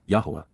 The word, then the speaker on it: Yahowah: achievements even miraculous fulfillments Yahwa Yahwa the proper pronunciation of the name of Eloha God as